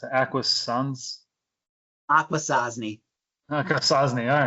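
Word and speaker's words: Akwesasne: So we'll do Essex as well as Newcomb, Argyle, and I don't know how you pronounce it. Aquasans. Aquasasni. Aquasasni.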